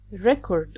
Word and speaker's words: record: " 'REcord" or "re'CORD", when we stress " RE", it gives the noun 'REcord, like Guinness 'REcord and when we stress the second syllable "CORD", it's the verb.